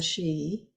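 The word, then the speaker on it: sídhe: also called the she s-i-d-h-e pronounced the she and the question after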